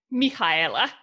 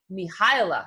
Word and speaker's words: Mihaela: And I don't want to pronounce her name incorrectly because it is not, is it Mihaela? How do you pronounce it in your language? Mihaela. Mihaela.